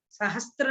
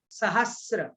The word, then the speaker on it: सहस्र: तन मध्य मेरु नाभिर्वृत्तो, नाभिर्वृत्तो योजन शत सहस्र, सहस्त्र नहीं सहस्र, सहस्र विष्कंभो जम्बू द्वीप।